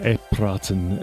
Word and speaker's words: EPiraten: EPiraten is how you say it.